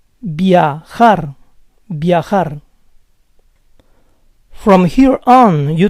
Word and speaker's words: viajar: Fifth word ends in a consonant that is not N or S. The stress goes on the last syllable. Viajar, viajar.